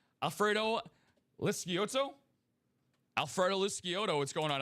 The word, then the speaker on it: Lisciotto: the only person here at UA that correctly pronounces his last name, Alfredo Lisciotto.